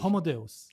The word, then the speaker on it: Homo Deus: What's the correct pronunciation? Homo Deus.